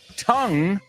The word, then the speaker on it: tongue: okay tongue the pronunciation say it with me tongue rhymes with h it rhymes with sing ring right